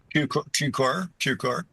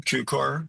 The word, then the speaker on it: Cukor: Cukor, is that correct? Cukor. Yeah. You're like cue ball, Cukor.